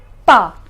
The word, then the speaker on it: pas: The pronunciation is n and pa.